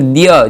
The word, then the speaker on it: द्य: का जो वर्ण होता है ध की तरह ही दिखता है, किंतु इसमें द और य जुड़ा हुआ होता है, ध नहीं जुड़ा हुआ होता है, द और य जुड़ा होता है। इसलिए इसका उच्चारण स्पष्ट क्या होगा? द्य होगा, द्य।